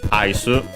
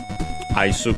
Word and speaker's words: アイス: Again, Isu, just from English ice. Should be, we have seen it before, but it's accented on the first syllable, I'm pretty sure.